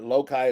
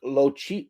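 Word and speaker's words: loci: you an important hint lokai is not pronounced like you it's from latin uh it's like cheap lok lochi lochi lochi i i agree i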